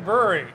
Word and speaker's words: Bruery: And we're here at the Brewery, and that's spelled B-R-U-E-R-Y, which is probably, I